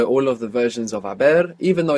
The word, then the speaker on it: haber: gone, in Spanish it's haber. Haber, H-A-B-E-R. And of course we have the silent H there in haber.